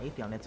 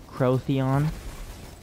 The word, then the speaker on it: Atheon: It's not Atheon, it's actually pronounced Crotheon.